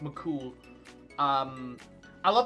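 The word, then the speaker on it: Mac Cumhaill: is spelled hale but it's pronounced mccool um i love how his legend is that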